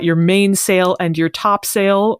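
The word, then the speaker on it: topsail: main sale and your top sale more commonly pronounced mainil and topsil I've never heard of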